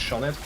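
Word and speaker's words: Sioned: but it was it was s-i-o-n-e-d and it's pronounced shoned because it's well oh i remember you thinking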